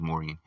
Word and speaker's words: Morien: not not all of them his name was Moran uh I believe it was m o r i n is how you spell that sir which is also believed to be